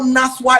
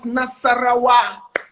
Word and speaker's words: Nasarawa: And I said, Naswa. But I said, it is not Naswa, it's Nasarawa.